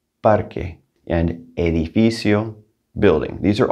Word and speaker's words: parque: want to point out that q u in there in parque that's going to have like a k sound parque parque and edificio building these